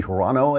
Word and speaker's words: Hirono: you're a man the senator from Hawaii mazie Hirono I guess her name is pronounced she has something a little message for